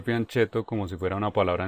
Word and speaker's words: fianchetto: en inglés sin embargo el término es italiano y su pronunciación es algo como fianchetto bueno de manera que en español podría ser fieto pero ya estamos acostumbrados al fianchetto Hola soy